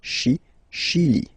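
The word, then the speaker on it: Chili: Okay, remember say ash. Okay. Shilly.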